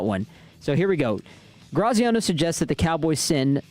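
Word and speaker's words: Graziano: ESPN Dan Graino said Cowboys proposed Georgia. Dan Graino or Dan Graciano. Graciano.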